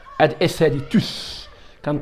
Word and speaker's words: tous: Donc هنا وبالنسبه لهنا هاد تو اللي في اس كتنطق هاد اس هادي توس كان 3 اس بالنسبه ملي كتعتبر ان برونون.